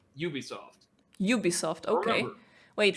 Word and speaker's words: Ubisoft: I know there was, like, this major confusion, even within the company, as to whether it's Ubisoft, Ubisoft. It is apparently Ubisoft.